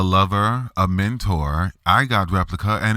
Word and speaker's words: Replika: In the middle of the show, Lisa talked about an app called Replika, that's spelled like replica, like a copy, but with a K. Replika is a generative AI chatbot app released in November of 2017.